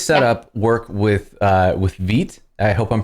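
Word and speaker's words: Vite: work with uh with veet i hope i'm pronouncing the name of that project properly you are absolutely correct people always name it white when it's fit and i have no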